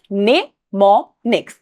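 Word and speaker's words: mnemonics: यहां पे ये जो एम है ना ये साइलेंट होता है। तो कंफ्यूज मत हो। इट इज़ निमोनिक्स।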